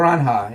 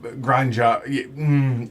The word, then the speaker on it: Granja: Granja. Yeah. I've seen people say that like it's almost like gruncha, Okay. but I mean I don't I know very little about Spanish pronunciation.